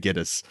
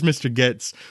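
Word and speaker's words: Gittes: as Mr gtis actually they all pronounce his name differently which is funny John Houston say Mr he says yeah he says Mr Gs Fay dunway says giddes um and most other people say gtis um but he never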